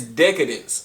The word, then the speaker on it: Decadence: Yeah, it's Decadence. It's DECADENCE, I believe. So it's Decadence. It took me a while too. I was saying it wrong the first couple of times